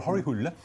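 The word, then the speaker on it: Hole: your hero now we we pronounce his name Harry Hull how would you say it in Norwegian umul it's quite a common name okay well har hul um is he's been to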